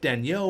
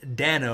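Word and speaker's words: Danault: ended up getting Philip tan yo which now you guys are letting me know it's just Philip Dano I know it's there's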